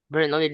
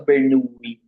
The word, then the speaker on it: Bernoulli: Bernoulli distribution daw ba? Yan, it's the Bernoulli. Actually, it's pronounced the Bernoulli distribution.